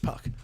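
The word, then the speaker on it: Puk: AJ Puck is pronounced Puck.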